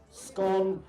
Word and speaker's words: scone: Scone as in gone, or rhymes with gone, and that's the pronunciation.